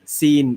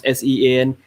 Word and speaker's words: Sean: So how would you say Sean? Scene. Yeah, good question. The real Dumble. We will call Sean Scene.